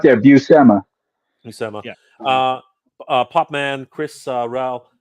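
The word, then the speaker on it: Buscema: tell you real quick it's buma for everyone out there buma bua uh popman Chris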